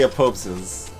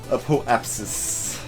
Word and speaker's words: apoapsis: I still want that to be 3 syllables. I want to say apopsis. Apoapsis.